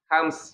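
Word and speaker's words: همس: Bacanya bukan hames, ya. Kalau hames itu kurang fasih ya. Tapi hams ya. Hams ya. Jadi bukan hames. Hams sebagaimana iya bukan hames. Kalau hames itu kurang fasih gitu ya.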